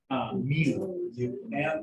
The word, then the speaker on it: mu: What was the, Mu. M-U is the pronunciation. M and U together.